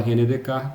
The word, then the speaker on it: Descartes: Assim que se escreve, mas se fala René Descartes porque ele é francês.